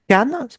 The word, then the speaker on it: Kan: Ensuite, Kan, on peut le prononcer aussi, j'ai remarqué, Chan des fois.